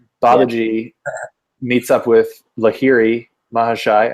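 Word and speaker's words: Lahiri Mahasaya: Babaji meets up with Lahiri Mahashai, I think that's how you say it, Lahiri Mahashai, who's then the guru of Sri Yukteswar, and who's the guru of Yogananda, right?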